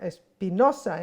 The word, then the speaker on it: Espinosa: esta conversación sobre Espinosa Espinosa en el parque México hay que pronunciarlo al español La espinoso es una